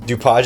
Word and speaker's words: DuPage: I'm guessing we're leaving DuPage County. Or DuPage County. DuPage is the French pronunciation. I wouldn't be surprised if it's DuPage County, because apparently you can't say French stuff in French.